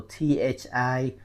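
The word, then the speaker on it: Thị: So Thi, we pronounce Thi, Thi, with dấu nặng, okay? Dấu nặng, the dot under the letter I.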